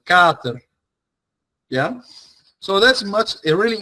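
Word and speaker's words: kater: If we replace that double t with one t, that a is going to sound much longer. Yeah. So, Carter is uh is spelled K A T E R. Yeah. So, that letter is going to be pronunciated much longer.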